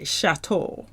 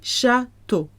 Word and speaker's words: châteaux: If you want the castles, les châteaux with an X at the end. Don't pronounce that X though. That's not in Frolic Barbecue. Les châteaux.